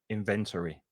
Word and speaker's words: inventory: Notice the pronunciation, inventory, the opposite of inventory, because we tend to put the accent in the second part of the word, because in Spanish most words are like this.